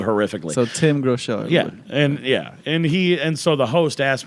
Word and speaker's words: Groeschel: So Tim Groeschel. And so the host asked me, like, how do you pronounce your last name? And I'm like, it's easy, it's 2 words, Groeschel.